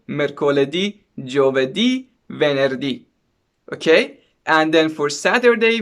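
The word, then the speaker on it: mercoledì: it or not but from monday to friday the stress is on the last syllable of the word so you can say like this lunardi marte di mercoledi okay and then for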